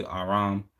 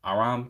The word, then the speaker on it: Aram: The children of Shem were Elam, Ashur, Arpasad, Lud, Aram. That's interesting. Aram came from where Haram, like Haram rhymes with Aram, and Haram means sin in Arabic.